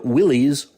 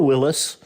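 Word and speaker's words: Willys: includes an olive drab Willies or Willis model that's a salute to the original ID pronunciation is fine with Jeep and stellantis the company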